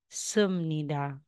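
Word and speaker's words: 습니다: so Instead na sasabihin mang sup Nida magiging sumnida y so ne Al So ibig sabihin Yes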